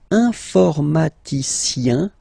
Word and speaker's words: informaticien: And the last group is IEN, informaticien, yin, yin, yin. So that's the way to pronounce this IEN, yin, yin, okay?